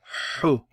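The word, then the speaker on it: حُ: How would you pronounce this? You'd say ju. Ju. Hu.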